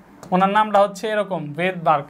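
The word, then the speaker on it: Svedberg: এস ভিই ডি উনার নামটা হচ্ছে এরকম ভেদবার্গ ডি ও আরজি তো উনার নামটা শুরু হয়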